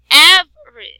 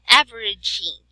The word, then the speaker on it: average: see, Av, we cannot have the sound E. So we have here average, or like average. Okay, we cannot say average. It is average. Oh. Okay. Oh, so it mean the E no need pronounce.